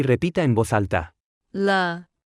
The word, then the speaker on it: 了: 了了了了了了了 Se pronuncia con el tono neutro.